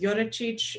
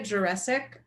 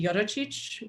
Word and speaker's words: Jurecic: My last name is Slovenian. It should be pronounced Jurecic. It got corrupted on the way across the Atlantic Ocean in the early 1950s. So there you have it. And how do you pronounce it? So I say it Jurecic, but that's basically wrong in every single way. So it should be Jurecic, which means son of George, for what that's worth.